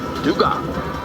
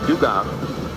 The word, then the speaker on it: Dugas: And Gavin Dugas. Depends on where you're from. It could be Dugas or Dugas. Where you're from, how do you say it? Where I'm from in the Baton Rouge area, it's Dugas.